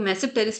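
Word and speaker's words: Tmesipteris: आपको मैसिव टेरिस पढ़ना है। टी साइलेंट है।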